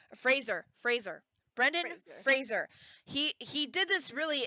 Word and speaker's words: Fraser: pronunciations of stuff and he says his name is Fraser he's been it's been said wrong his entire acting career I had to laugh